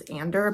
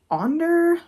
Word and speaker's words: Onder: And I believe I kept saying that their name was Ander, but it's Onder, apparently, according to the book. O-N-D-E-R is how you pronounce it.